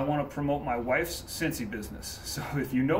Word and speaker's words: Scentsy: Now, Cincy is spelled S-C-E-N-T-S-Y, so like scent, Cincy.